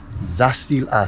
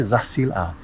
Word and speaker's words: Zacil-Ha: First cenote, and I have no idea what the name, how to pronounce Jay. Please help me out to the little Spanish, el español. Zacil-Ha. Cenote Zacil-Ha.